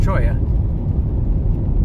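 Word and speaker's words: cholla: All this stuff off here to the left, the cactuses are called choya. It's pronounced, it's spelled chola, but it's pronounced choya.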